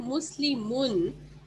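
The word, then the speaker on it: مسلمٌ: When we are saying Muslimun, although we don't see a noon or the N sound at the end, but do you hear the N sound? When we say Muslimun, do we hear a sound of the N? Yes. Yes. Yes. We do.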